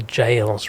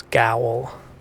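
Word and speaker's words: gaol: Modern English word Shadow it's almost like the jails right which is go g a o l which a lot of people also thought it's gwl that's the shadow tree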